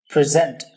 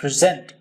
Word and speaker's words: present: तो मैं आपको बता दूं, यहां पर ये वर्ब यूज हुआ है इसलिए मैं इसको कहता हूं प्रेजेंट। सेकंड पार्ट पर स्ट्रेस है, प्रेजेंट।